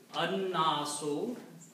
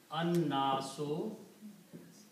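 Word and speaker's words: النَّاس: And it becomes an-nasu. Because when you read it together, you don't pronounce the lam, you pronounce noon twice. And one dhamma goes away, so this becomes an-nasu.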